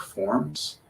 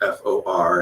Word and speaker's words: for: of prove this point, that if you spell F-O-R and ask somebody how that word is pronounced, they'll say for, because in isolation, that's called the strong form of that word, for. But if you ask someone to use it in a sentence, like inviting somebody to their house to have dinner, then what's actually pronounced is not for, it's f.